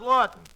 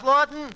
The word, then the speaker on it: Laughton: duffy ain't here hello duffy tonight uh charles lawton the english sophie tucker uh what duffy uh